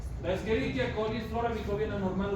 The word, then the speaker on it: Escherichia: coli, la Escherichia coli, que se dice Escherichia, quiere decir que su docente no sabe latín, porque es la CH se pronuncia K. La Escherichia coli es flora microbiana normal humana de los intestinos humanos.